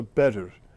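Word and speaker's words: Bedwyr: The W is pronounced more like a double O, and the Y is an E sound. Yeah, it's a Bedr.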